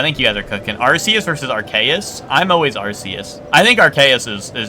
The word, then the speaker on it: Arceus: Long C for Arceus? Arceus? Like that? Arceus? I mean, that's kind of how I do. Arceus. I just say Arceus. Like Arse. The Eus should be pronounced like Deus.